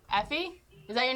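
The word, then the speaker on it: Aoife: to your house hey evie effie is that your name a lot of people don't know how to pronounce it because it's spelled a-i-o-f-e and people have trouble where are you from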